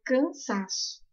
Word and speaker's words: cansaço: A mesma coisa ocorre com a palavra cansaço. Separo a sílaba e depois eu vejo qual é a intensidade de cada sílaba. Cansaço. O sa é uma palavra paroxítona.